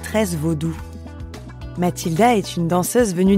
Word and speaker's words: vaudou: Le mot vaudou est prononcé vaudoun dans le langage fond, c'est-à-dire le langage dahoméen, le langage littéraire dahoméen.